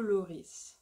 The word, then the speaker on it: Lloris: Then you have Hugo Lloris. Hugo Lloris. Lloris. So here, really pronounce the S at the end.